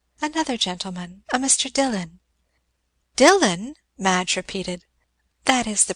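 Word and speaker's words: Dillwyn: gentleman a Mr Dylan Dylan Madge repeated that is the pronunciation of the name it is spelled D i l l w y n dilwin but it is called Dylan and who was the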